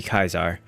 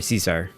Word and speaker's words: Caesar: that uh the pr correct pronunciation for that time period would be kaisar um you can blame you can blame Shakespeare for Cesar Shakespeare made the name